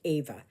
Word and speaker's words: Eva: name is Ava but it is spelled EV V A but pronounced Ava because um I grew